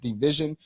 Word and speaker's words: DVSN: Kate says, my favorite artists to listen to right now are Eric Bellinger, DVSN, pronounced Division, and Ty Dolla Sign.